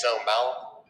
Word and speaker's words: Sewmouth: And my musician name is So Mount, and that's spelled SEWMOUTH.